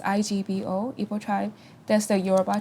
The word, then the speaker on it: Igbo: would be EO tribe that's my tribe it's pronounced Igbo EO tribe that's the eura tribe most afrob